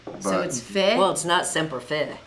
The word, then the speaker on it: Fi: Always Fi like high.